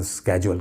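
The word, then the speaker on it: schedule: शेड्यूल जिसे कह लें, मतलब दोनों के अलग अलग प्रोनाउंसिएशन है। ब्रिटिश और अमेरिकन का फ़र्क है। ब्रिटिशर्स आमतौर पे शेड्यूल कहते हैं और अमेरिकन स्केड्यूल कहते हैं।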